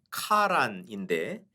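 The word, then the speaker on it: קָרַן: 이 광채로 번역된 히브리어는 카란인데 이 말을 케렌이라고 발음을 하게 되면 뿔이라는 뜻이 됩니다.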